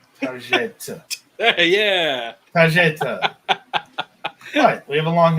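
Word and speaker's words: Targett: It's Target. You gotta enunciate that. No, Target. Target. I'm an American. It's Target. Target. At least Target. enunciate the double T as a T. Target. Yeah. Target.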